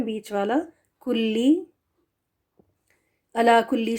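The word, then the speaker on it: قال: उर्दू बोलने वालों में कला क्यू के साथ पढ़ना चाहिए इसकी जो स्पेलिंग इधर है देखि यह क्यू के साथ कला यह बहुत दफा आता है कुरान में तो इसको के एच लगा के खा के साथ पढ़ना यह खाला पढ़ देना यह गलत है यह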